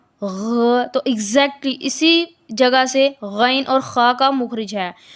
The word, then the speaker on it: غین: کی غلطی نہ ہو۔ آپ نے ذہن میں رکھنا ہے یہ دونوں حروف موٹے پڑھے جاتے ہیں، یا باریک یا پتلے